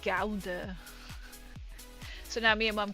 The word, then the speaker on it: Gouda: I have been to Gouda.